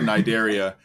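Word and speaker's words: Cnidaria: by yeah because like looking at the word nidaria you would not say that that's how that's pronounced because it starts with a c yeah and it's like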